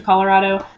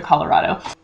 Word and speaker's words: Colorado: As you can probably tell, I did not in fact train myself to pronounce it ColorADo instead of Colorado. I'm still not entirely convinced that I need to, seeing as my grandfather, who grew up in Grand County, Colorado, pronounces it Colorado, not Colorado, but to be honest,